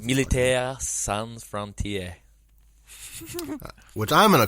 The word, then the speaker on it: Militaire Sans Frontières: Militaire Sans Frontières. Which I'm going to call MSF going forward. So I didn't roll my R's enough, but that was roughly it.